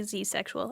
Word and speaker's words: zedsexual: a to zed or you could do the American pronunciation and say zexual I've just never heard